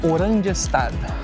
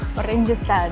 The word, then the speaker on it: Oranjestad: Aí eu perguntei ali para duas senhoras que trabalham aqui e é Oranjestad. Oranjestad.